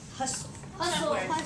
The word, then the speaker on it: hustle: okay um how about look at this word hustle hustle I'm so happy that nobody said hustle you guys are following that rule keep that t silent excellent job so when